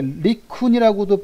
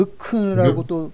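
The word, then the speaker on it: LeCun: 이게 리쿤이라고도 발음을 하고 르, 르큰이라고도 발음하고 그러거든요. 아, 그러네.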